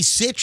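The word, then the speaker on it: Sytch: last name is spelled her last name is spelled s-y-t-c-h it's tammy sitch and she goes by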